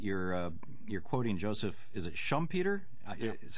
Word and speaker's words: Schumpeter: I was impressed that you're quoting Joseph, is it Schumpeter? Yeah. Is how it's pronounced, and Hyman Minsky, the Austrian school, and then in the 70s Hyman Minsky.